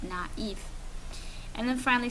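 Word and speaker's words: naïve: so it means that there's an A and an e and we're going to pronounce them separately instead of making Nave we're going to have naive and then finally say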